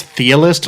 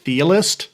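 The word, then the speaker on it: Chthe'ilist: I think it's Thealist, like Cthulhu. It's like CTH, like Cthulhu. So the C is sort of silent, so it'd be like Thealist.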